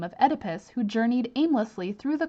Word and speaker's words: Oedipus: So when you're trying to pronounce this name, basically cut off the O and pronounce it Oedipus and the Sphinx.